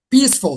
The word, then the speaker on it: peaceful: So the stress lies on the first syllable, not in the second.